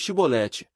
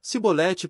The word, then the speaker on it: chibolete: não então lhe diziam dize pois chibolete porém ele dizia sibolete porque não o podia pronunciar bem então pegavam dele